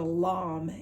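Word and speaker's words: lame: use baker's used this tool it's called a lamb it is spelled l-a-m-e and it's a lovely lovely tool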